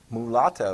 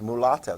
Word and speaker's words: mulatto: be a you know pronounce that mulatto is how that's pronounced mulatto sounds like something you'd order at starbucks it's not okay mulatto